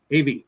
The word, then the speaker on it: Av: All right, so this is Av, A-V, Av. Yay! It's alive again. All right, Av, from Aleph and Bet. Bet with the V sound.